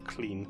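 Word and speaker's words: Llŷn: or grog which is made by putting the tongue to the top of your mouth and making a sound that's a little bit like an L but also a little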